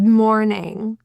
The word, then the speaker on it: morning: The typical pronunciation of the I in ing is eh.